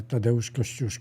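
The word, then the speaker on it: Tadeusz Kościuszko: polish Heroes they are tadaosko I'm saying this in Polish language because even George Washington had a problem to pronounce his name and the other one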